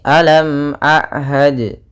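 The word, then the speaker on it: أَلَمْ أَعْهَدْ: ulang alamum innahuakumuum mubin maka kita perhatikan di sini alam Ahad ada mim mati bertemu dengan Hamzah maka kita namakan dengan bacaan izhar syafawi ya maka suara mimnya harus dibaca dengan jelas ya tidak boleh ditahan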